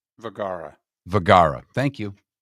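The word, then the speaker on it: Vergara: Vagara.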